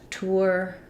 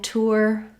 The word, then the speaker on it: tour: tour and tourist but this has the ur diphthong so we're going from a rounded oo into our ur and then tour and tourist um first syllable stress also when i'm saying tour some people will say it more like tourist tourists they don't have as much ooh rounding there so i can